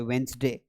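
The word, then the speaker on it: Wednesday: अब आप बोलोगे सर आपने डी नहीं पढ़ा। डी क्यों नहीं पढ़ा? क्योंकि ये डी साइलेंट है। इसको ऐसे पढ़ा जाता है वेडनेसडे।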